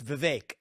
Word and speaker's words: Vivek: how you say it it's pretty close it's Vivek like cake the vague okay yeah